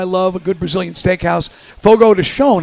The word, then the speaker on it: Fogo de Chão: Fogo de Chão is, I believe, the correct pronunciation.